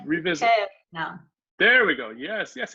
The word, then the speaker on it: aeternum: That is the word, but this sound you mispronounced. Revisit. Aeternum.